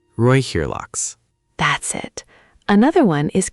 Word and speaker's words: Räucherlachs: The E in Räucher sounds like the Oi in boy. Räucherlachs. Räucherlachs.